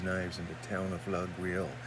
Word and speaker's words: Laguiole: That's where they make these knives in the town of Laguiole. Now the locals pronounce it Layole, but the proper French, I suppose, pronunciation is Laguiole.